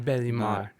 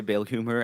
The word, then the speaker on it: Belhumeur: It wasn't. It was, right? It was. Belhumeur. No, Belimar. Okay. yeah, but you can say Belhumeur. I when I say my name in English, this is how I say it.